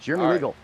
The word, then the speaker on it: Jeremy Weigel: Chris fight it out, I think I'm saying it right, Jeremy Weigel? That's correct, Jeremy Weigel.